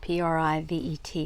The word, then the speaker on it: privet: P R I Ve T. And I was saying it correctly. Privet, which is a shrub that has small white flowers used for hedges.